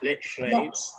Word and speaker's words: Lechlade: how do you pronounce Lechlade? Is it Lechlade?